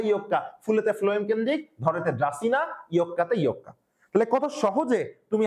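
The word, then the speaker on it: Dracaena: ড্রাসিনা আমি পড়তাম এভাবে ধরে সিনা। ধরে দিয়ে কি? ধরেনা সঠিক উচ্চারণ কি? ড্রাসিনা।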